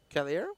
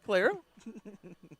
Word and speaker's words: Calero: Caliero? Yeah. You're adding the E before the L. No? Calero? No. I definitely said it right. Calero?